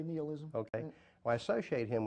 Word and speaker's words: nihilism: I associate Nietzsche with, is it nihilism or nihilism? I've heard it pronounced both ways. Yeah. I usually say nihilism.